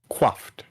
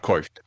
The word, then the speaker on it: coiffed: Oh, also, by the way, Carrick, it's pronounced quaffed. Thank you. Not coiffed.